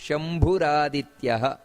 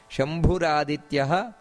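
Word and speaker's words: ಶಂಭುರಾದಿತ್ಯಃ: ಇಲ್ಲಿ ಸ್ವಯಂಭೂ ಮಹಾಪ್ರಾಣ ಸ್ವಯಂಭೂ ಶಂಭುರಾದಿತ್ಯಹ ಅಲ್ಲಿ ವಿಸರ್ಗ ಇದೆ ಸ್ವಯಂಭೂ ಅಂತ ಈ ರೀತಿ ಅರ್ಧ ವಿಸರ್ಗವನ್ನ ಹೇಳಿ ಶಂಭುರಾದಿತ್ಯಹ ಪುಷ್ಕರಾಕ್ಷೋ ಮಹಾಸ್ವನಹ ಅನಾದಿ ನಿಧನೋ ಧಾತ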